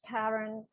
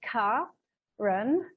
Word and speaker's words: Karen: I'm pronouncing it wrong, Karen, because I know your mother deliberately gave you this name with a K-A to be pronounced as a hard K-A, so to open up our hearts.